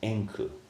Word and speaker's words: Enku: The Japanese pronunciation of his name is Enku.